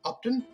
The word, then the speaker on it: Upton: joined by the founder of little data Edward opton did I get that right Edward you did